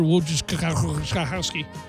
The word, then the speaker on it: Wojciechowski: We got Cubs, Reds, Mike Montgomery, Asher Wojciechowski. And he pronounces it just like that.